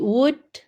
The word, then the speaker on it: would: Ini L-nya tidak usah disebut. Jadi would.